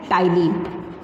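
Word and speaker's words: ptyalin: First is salivary amylase एंड टाइलिन. इसको टाइलिन बोलते. पी का प्रोनाउंसिएशन नहीं होता यहाँ पे, साइलेंट वर्ड है.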